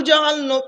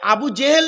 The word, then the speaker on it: আবু জাহাল: আপনারা শুনেছেন নবীর চাচা আবু জেহেল বলেনি আবু জেহেল নবীর চাচা বলে না যিনি যে বক্তা বলবেন তাকে ধরবেন যে আবু জাহাল আবু জেহেল নয় শব্দটা আবু জাহাল কি বললাম আবু জাহাল জেহেল নয় বাচ্চারা ভালো বুঝতে পারবে